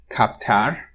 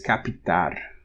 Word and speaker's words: captar: So for example, the word for pickup, which you would assume is captar, but it's capitar.